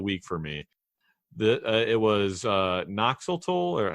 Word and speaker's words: Noxolotl: It was Noxeltol, or how do you help me out here, Kenny? How do you say this one's name? I say Noxolotl.